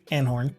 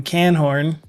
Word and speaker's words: Anhorn: I mean, Anhorn. Mr. Anhorn quickly stopped me from calling him Canhorn.